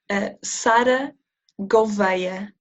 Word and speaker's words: Sara Gouveia: Sara Gouveia.